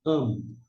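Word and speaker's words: עַם: Esse a é um som mudo, não tem som de Y, não. É mudo para não cair numa pegadinha. Então aqui é mudo, vai pegar o som emprestado aqui desse patar, que é o a breve. E aqui é o m na forma final. E a gente vai pronunciar am.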